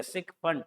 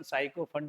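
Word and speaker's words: sycophant: देखिए सिक फंट, इसका pronunciation साइको फंट मत पढ़िएगा बेटा, गलत होता है। बहुत से लोग को पढ़ने में साइक जो सुने हैं, मैंने भी सुना हुआ है कि लोग बोलते साइको फंट है।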